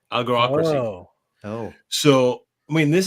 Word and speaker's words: algocracy: It's called, if I can pronounce properly, algocracy. Algo, as in algorithms, ocracy, algocracy.